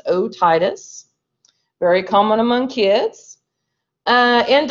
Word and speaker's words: otitis: probably different ailments or dysfunctions of the ears otitis media very common inflammation of the middle ear that's how at word is pronounced otitis very common among kids and like high drops